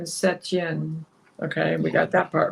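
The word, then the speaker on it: Saint-Étienne: Saint Etienne, French pronunciation Setien.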